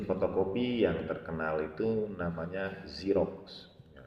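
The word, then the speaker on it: Xerox: yang terkenal itu namanya Zerox ya, nulisnya X E R O X ya, serok gitu ya. Tadi dibacanya zerox.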